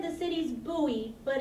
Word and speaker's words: Bowie: sister said the city's Booey but it's spelled like Bowie like David Bowie but it's pronounced Bowie